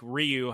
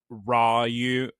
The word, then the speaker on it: Rayu: Not Not like Ryu, how it was mispronounced by people playing Street Fighter, but Rayu.